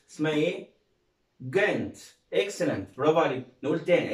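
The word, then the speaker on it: Ghent: طيب الكلمة اللي بعدها جي اتش اي ام تي، طبعا برضو الاتش عندنا سايلنت مش هيتنطق، وهنطق حرف الجي جيم، يبقى اسمها جنت. اسمها ايه؟ جنت.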